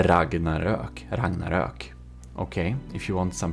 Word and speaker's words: Ragnarök: YouTubers, aka Swedish one, who has the proper pronunciation of the name of this ship, because the original builder, Robas of the Ragnarök, he is Swedish, and it's called the Ragnarök.